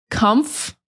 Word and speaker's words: comfortable: So I want you to break it down into the syllables and practice them individually. Comfortable. Comf. And sometimes we don't even really say the F. Sometimes we just say comp or cumped, something like that.